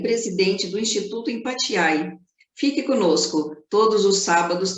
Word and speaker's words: Empathiae: E é assim que se pronuncia, né? Empatiai. Empatiai.